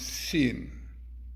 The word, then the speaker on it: Sin: So in the softer pronunciation is pronounced Shin, and its strengthened pronunciation is pronounced Sin. Yeah, sin, not a sin.